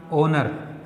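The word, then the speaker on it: honour: जब आर बना और यहां पर हमने देखा ओनर, तो फ्रेंड्स यहां पे एच साइलेंट, यहां पे एच साइलेंट, तो आ का साउंड आ रहा है, तो यहां पे ये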